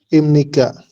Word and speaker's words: 입니까: Imnika. Iya, betul. Dibacanya imnika. Ini biepnya ini bukan ip ya, tapi jadi m, jadi im.